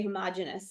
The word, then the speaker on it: homogeneous: The first one is homogeneous, and you may hear me or other people say homogeneous. Some people pronounce it that way, which is, it's okay.